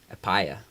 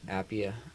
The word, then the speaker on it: Appiah: say the last part apaya apaya no appiah i feel bad it